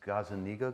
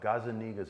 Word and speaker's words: Gazzaniga: got it, I thought about it, is this Gazzaniga guy, is that did I say his name right? Gazzaniga, yeah.